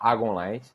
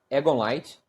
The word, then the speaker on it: Agon Light: Muitos falam Agonlight, como o próprio criador da placa fala Agonlight. Existem algumas pessoas que falam Egonlight e um grupo maior de pessoas que falam Egonlight.